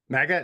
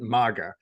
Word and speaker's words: MAGA: So I've always pronounced it MAGA because I did Krav Maga. So I was like, it's kind of like more like a Ma, but it's make America. So it must be Ma.